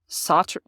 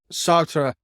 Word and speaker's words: Sartre: They bring up, how do you pronounce his name? Sartre. Sartre.